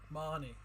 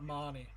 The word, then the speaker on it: Mahoney: I can't pronounce Mahoney. Marnie. Say something like Marnie. The HO silent in Mahoney.